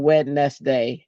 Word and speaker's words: Wednesday: But yeah, to this day it is wet nest day. That is how I spell it cuz Wednesday doesn't even make sense the way it's spelled.